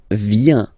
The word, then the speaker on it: viens: So the first form is je viens, je viens, okay? Remember this I, viens, viens, and then this nasal, final S not pronounced, je viens, Tu viens.